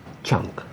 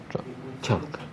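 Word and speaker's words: Trang: grandmas Hong T drun chunk Chun the exact pronunciation is Chun okay yeah I apologize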